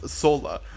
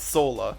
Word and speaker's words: Soula: And their last name is pronounced Soula. Soula, not Sola.